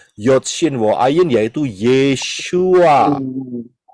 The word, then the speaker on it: Yeshua: sini kemudian yang berikutnya jadi yesua tulisannya y e s h u a itu adalah cara pengucapan pronounciation kalau gak gitu kita